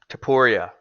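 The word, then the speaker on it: Topuria: fighting in Anaheim against it's Tupuria. Is that how you say his name? Tapuria. Tapuria, who's never lost as well, and it seems like a really exciting fight.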